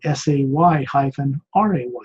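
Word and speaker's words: Seres: It's spelled S-E-R-E-S, but it's pronounced phonetically like it was spelled S-A-Y-R-A-Y-S, Say rays.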